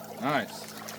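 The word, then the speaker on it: gneiss: And that's nice, too, but it's spelled different. G N E I S S. This nice is really nice.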